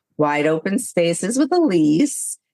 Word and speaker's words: Ilise: It's wide open spaces with Elise. Elise is spelled different. It's I L I S E.